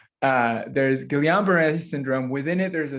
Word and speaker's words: Guillain-Barré: And it's a similar sort of analogy of there's Guillain-Barré syndrome, or Guillain-Barré syndrome. The L is actually pronounced apparently. There's Guillain-Barré syndrome.